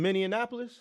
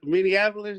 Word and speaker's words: Minneapolis: is that you in Minnesota yeah you in minan Apolis come on man Minneapolis yeah it's like I mean